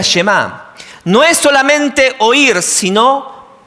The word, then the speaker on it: Shema: Shema tiene este peso. La primera palabra del Shema es oye o escucha. Y en hebreo se pronuncia Shema.